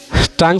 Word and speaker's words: tongue: Tongue spelling tongu. T-O-N-G-U-E. Tongu, right? It sounds tongue.